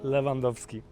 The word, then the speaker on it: Lewandowski: like I need to know the official Polish pronunciation of the name. How does it go? Nazywam się Robert Lewandowski.